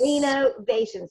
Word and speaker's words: RenoVations: Renovations, because the V, if you can see it, is capitalized. Yes, and the character's last name is Reno.